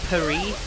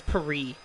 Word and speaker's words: Paris: stay in paris but isn't it technically pronounced paris or something like that poe it's like i don't know you don't say the s park though i think it's peri peri it's hard to